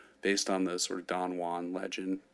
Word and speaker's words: Don Juan: on the sort of Don Juan Legend said pronounced donjuan because of the way English meter Works never mind he's quite